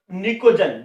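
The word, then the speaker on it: pnictogen: 15वां निकोजन, निकोजन की spelling P से शुरू होती है, ये पनिकोजन नहीं है, निकोजन है, ठीक है, लेकिन शुरू पी से होता है।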